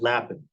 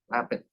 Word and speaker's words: Lappin: Is it Lepin like the John Lappin. bunny rabbit in French, or is it Lapin? Lappin. Yeah. 2 P's instead of 1.